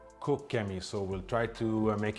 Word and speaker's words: Koch Chemie: So apparently it's not Koch Chemie, it's Cook Chemie.